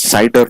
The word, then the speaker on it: CIDR: classlist enter domain routing referred as cidr and pronounced as cider notations right so it is classless inter-domain routing